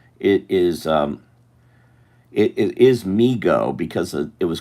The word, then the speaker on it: Mego: m e g o migo to the toy store so that's why it is Migo not mego cuz I was pronouncing it may go for a long time